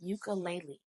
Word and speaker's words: ukulele: Here, ukulele does start with a vowel, the letter U. But remember, we're not necessarily focusing on whether the word starts with a vow. I want to kind of alter our definition from earlier and say instead we'll focus on what the first letter makes as a sound. Whether it makes a vowel sound or a consonant sound